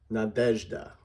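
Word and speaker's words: Надежда: I'll go na, dej, da. Here's the ZH that we've kind of talked about, making the zh sound. Here's a good example of that. And you'll notice that I've made the middle syllable the big one so that you know which one has the emphasis.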